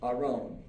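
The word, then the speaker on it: ארון: ol of r no and it's pronounced Aron Aron maybe I don't think there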